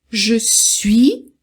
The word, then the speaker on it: je suis: Então, não pronuncia o S, não pronuncia o T. Então, je suis, je suis, je suis.